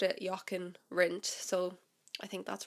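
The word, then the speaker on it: Jochen Rindt: of the week was yaken rent I've been pronouncing his name since I first heard of for the last few years in as Yin R because obviously once again I just read about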